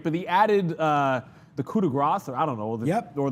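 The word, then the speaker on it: coup de grâce: Is it coup de grace or coup de grace? Coup de grace. Yeah, you don't pronounce the S there.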